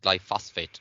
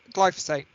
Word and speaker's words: glyphosate: what is your thoughts on the importance of glyphosphate to a noil system um also known as gly glyphosate well when you can learn pronounce Chas you